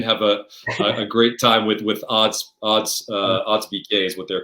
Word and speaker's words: Odd: I'm pronouncing this right, Ode? How do you pronounce the name of the coach? So Odd is how you pronounce it. They pronounce it Odd.